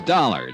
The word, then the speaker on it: Dollar: It's Dollar, Johnny Dollar. Dollar, huh? Yeah, it rhymes with collar.